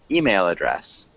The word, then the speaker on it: email address: from and then email email address email address yeah the email address email address email address yeah because email we want to emphasize the second syllable email email address yeah